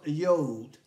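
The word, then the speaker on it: יוד: And Yod is pronounced Yod, is the smallest Hebrew letter.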